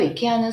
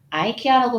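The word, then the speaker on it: IKEA: 스웨덴과 유럽에서는 이케아, 이케아처럼 발음하고 있는데요. 미국이나 캐나다 같은 북미 영어권에서는 아이케아라고 발음되고 있습니다.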